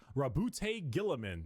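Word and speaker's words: Roboute Guilliman: Primarch, Rabute Gilliman. That's how it's said. Robo Girly Man. No, it's pronounced Robo Girly Man.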